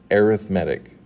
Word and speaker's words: arithmetic: sequence now I know that's the word arithmetic but in this when used this way it's pronounced arithmetic what is an arithmetic